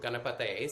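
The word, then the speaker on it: गणपतये: So the first three syllables, ga, na, pa, are all short A's. Ga, na, pa, not ga, na, pa. And then the ta is a long A. Ta, ta, not the. da. And then also on that syllable, the T, it's not the same T we have in English. It's not t, it's th. It's a more dental T.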